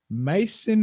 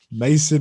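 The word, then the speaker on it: Maison: to really say it i think it's mice may mice m-a-i-s-o-n oh my god margie let me read it for you mason margella i'm gonna just say mason mason martin right i think you're saying it right okay i know martial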